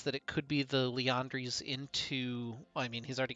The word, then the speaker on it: Liandry's: like a given so leondri's main immune why am i saying it with a long a it's liandry's where am i from